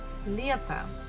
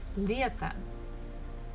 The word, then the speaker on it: лето: Bukva ye is stressed, so we have to pronounce it as ye, as it is. But next one, the last syllable, we have to, T-O, to. And here O is not stressed, so we pronounce it actually as A. So it will be like this. Лето, лето, summer.